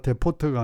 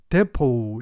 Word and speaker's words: depot: 대표, 탄약 창고, 이때 디파트나 데포트가 아니고 데포 이렇게 발음합니다.